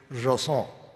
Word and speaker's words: JSON: I've been saying JSON, most people say JSON. It turns out the correct pronunciation is JSON.